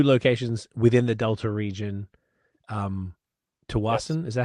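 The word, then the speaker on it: Tsawwassen: Tawasin, is that how you pronounce it? I'm sorry. Yeah, Tawasin, yeah.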